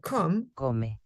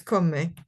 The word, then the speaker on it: come: would have heard that it's not come but it's come okay because oh yeah they they pronounced the e at the at the end okay so therefore sale